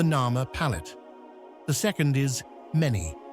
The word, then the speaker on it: Meni: The second is Meni, pronounced with a short E, and the third is what Manetho mentioned, Aha, meaning the warrior.